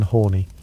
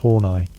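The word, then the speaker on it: Horney: Enter you, Karen Horny, pronounced Hornai.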